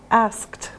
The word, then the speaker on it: asked: Now remember for pronunciation after k it's a t sound. Asked.